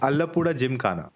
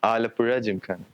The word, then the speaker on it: Alappuzha Gymkhana: So, uh let me know if I'm pronouncing it right. Alapura Jim Kana. No. Oh, it's very hard to pronounce for non-mali people. Alapura. Alapura. Alapura Jim Kana. Okay. Alapura Jim Khana.